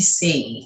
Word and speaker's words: Seay: so anybody listening look johnny c sometimes you'll have to see it spelled like my name s-e-a-y but uh in his earlier years the record labels had him do just s-e-a for pronunciation reasons but um not to